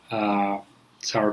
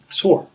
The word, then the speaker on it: sour: I personally love eating sour cream with curd. And a lot of people mispronounce it. Instead of saying sour, they say sore, which is the second word, which is a pain.